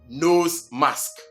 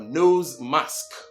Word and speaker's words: nose mask: And not nose mask, but what? Nose mask.